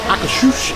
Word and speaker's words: Akershus: Hello everybody, Prince Barry here, and we're back at EPCOT because Akershus is reopened in Norway.